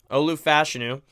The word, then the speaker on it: Olu Fashanu: fashu learn that that's the proper way of pronouncing it Olu fashanu he is left tackle great great size um